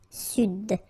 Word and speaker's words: Sud: Here you should pronounce the D. Sud.